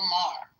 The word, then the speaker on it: Maher: thing, I see Wayne Brady went after Bill Moyer. How do you say his name? Moyer. Moyer. Saying he's a racist. Bill Maher.